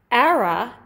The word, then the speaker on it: Ara: love the store well but era which is spelled a r a is our number one brand when i look at sales reports era will outsell the next